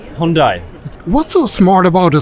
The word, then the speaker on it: Hyundai: About how do you actually pronounce the company name? Hyundai.